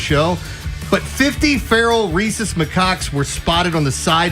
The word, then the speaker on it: macaque: I can't pronounce the name. How do you say that? Macaque.